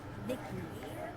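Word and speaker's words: Ivici: By the way, I-V-I-C-I, pronounced Vicky.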